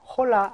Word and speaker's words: Hola: 또 H 발음, H 발음 뭐죠? 무음이다. Hola 아닙니다. Hola.